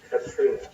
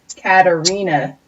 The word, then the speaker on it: Katarina: Katrina. That's not how you pronounce that. Katarina. My bad. That's better. You're missing a vowel in there. You didn't pronounce the A.